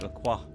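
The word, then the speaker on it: LaCroix: More like Laqua. They pronounce his name Laqua.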